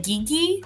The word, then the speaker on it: Gigi: The commentator guy, he should know it's pronounced Gigi.